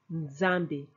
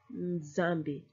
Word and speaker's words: Nzambi: Nzambi. Nzambi. You go N, but then you hit the Z stronger.